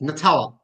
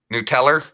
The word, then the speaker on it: Nutella: No, it's Nutella. Don't fight There's me. no R on it, Patrick. Nuteller?